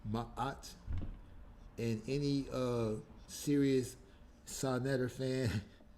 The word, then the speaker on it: Ma'at: She was trying to tell her that it's not Mayot, Mayot, that is Ma'at.